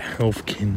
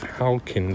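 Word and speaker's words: Halkin Street: for is halcon Street I might have mispronounced a thing called the health kin and stuff at times and half King Street is halcon Street um and this was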